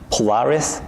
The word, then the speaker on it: Polaris: desert, not desert, desert, they look for the Polaris, right? The star, to know the direction. How do I pronounce Polaris?